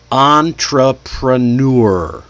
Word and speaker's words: entrepreneur: Note, the primary stress is not on the first syllable, even though it sounds like it. The first syllable is on. That's actually a secondary stress. It does receive some stress.